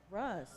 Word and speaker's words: Rousa: And our next speaker is uh Rousa. Rousa. Russ. Russ. Oh, I It's spelled Rousa, but okay.